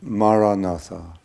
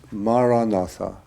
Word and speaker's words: Maranatha: So the word I would recommend is the word Maranatha. It's an ancient Christian prayer in the language that Jesus spoke. It means, "Come, Lord." And the word is Maranatha. 4 syllables, Ma-ra-na-tha.